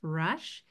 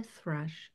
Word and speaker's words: thrush: and Thelma the thrush is pronounced with a voiceless th, and so we can practice. Thelma the thrush has many beautiful feathers.